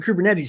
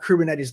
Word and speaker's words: Kubernetes: gets the joke okay how do you pronounce that word well it's ku bur you get it there's a bur in there so they named the